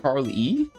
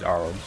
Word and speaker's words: Arle: So, is it like Carl E? That's what you're trying to say. Carl E. You welcome official raft witch. Oh, the e is silent. Okay, so it is ar Oh, that's not good.